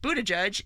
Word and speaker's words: Buttigieg: Pete Buttigieg, and that is apparently the correct pronunciation of his name.